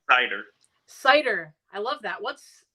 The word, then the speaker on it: Seiter: cider how do you say your last name cider cider I love that what's where's your last